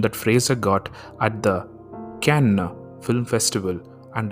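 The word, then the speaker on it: Cannes: Fraser got at the can film festival and I googled on how to pronounce that festival's name and it is indeed can going back to the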